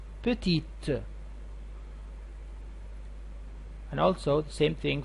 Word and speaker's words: petite: them at the end but here when you add it at the end to the end of the adjective so you had to pronounce the T the T petite and also the same